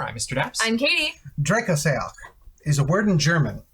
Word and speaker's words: Drecksack: Drecksack. Drecksack. That's to the best of my knowledge of Germanic pronunciation.